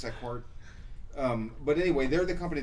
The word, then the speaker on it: Sequart: The company's called Seafart. No, Sequart. I said Sequart, and he corrected me, so I'm assuming it's Sequart.